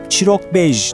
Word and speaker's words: Çîrokbêj: İşte bu noktada karşımıza Chirok Bej çıkıyor. Telaffuzu Chirok bej.